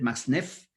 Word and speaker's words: Max-Neef: texto de manfred max-neef mucha gente le dice erróneamente más del max pero él es de ascendencia alemana así que se pronuncia manfred max-neef léanlo en y quiero